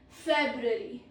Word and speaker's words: February: Pro tip is first R is often swallowed. First R is often swallowed. This is February.